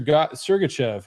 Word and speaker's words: Sergachev: DK he's not expensive and you said Ser sergachev almost missed it up but we're not we don't get any rights 100% pronunciation right sergachev uh he kind of owns